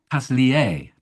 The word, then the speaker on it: Paslier: Sorry, Pierre Pasier. Pasier Pasier French. Did I pronounce that badly?